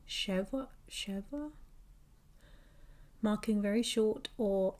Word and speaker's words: schwa: Medieval Hebrew griarians describe the Okay, so it's pronounced cheva chev marking very short or empty vowels.